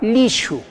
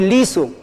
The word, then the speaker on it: lishu: Le presentamos la palabra lishu. ¿Ya? Lishu. A ver, pronuncio otra vez. Lishu. No voy a decir liso, sino lishu. Ahí hay un sonido, shu. Lishu.